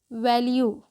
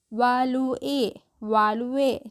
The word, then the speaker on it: value: जो पैराग्राफ है उसका टाइटल है वैल्यू। वालुए नहीं, ठीक है। वालू ए नहीं पढ़ते हैं हम, इसको क्या पढ़ते हैं, वैल्यू योरसेल्फ।